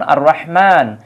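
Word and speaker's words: الرحمن: আবার এই জায়গায় দেখুন আর রহমান এই যে আলিফ লামের উচ্চারণ কিন্তু হচ্ছে না কারণ এই র টা হচ্ছে শামসিয়াত এই এটার উপরে আমার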